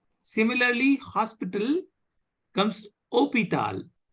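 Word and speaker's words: hôpital: pronounced similarly Hospital comes opital opital H is not pronounced is pronounced okay so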